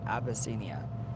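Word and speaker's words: Abyssinia: What country, what African country was formerly known as Abbyia? Ab y ss i n i a like abyss. Abbyia.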